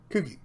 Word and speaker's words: Kookie: Similar to how you pronounce cookie in English. Okay, so Kookie.